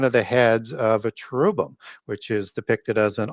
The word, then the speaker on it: cherub: You'll have a cherub, which is just a different pronunciation of the ch as we do, as in the original ch is in a k in the Mesopotamian pronunciation there, as opposed to an h sound in Hebrew, where it's typically pronounced